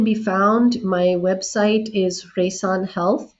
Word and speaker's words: Reisaan: So, where it can be found, my website is Reisaan Health. Ray, it rhymes with sunrise, sun rays, but it's spelled REI, Reisaan, SAAN.